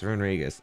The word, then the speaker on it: Runerigus: Like, I'd say the Pokemon I would rule out would be Shuckle, Reunguris, or Renew, I don't know how you pronounce that Pokemon. Runerigus? Oh, it's Runerigus.